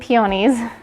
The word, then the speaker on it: peonies: Those and peonies, or as somebody said, I was saying it wrong, peonies.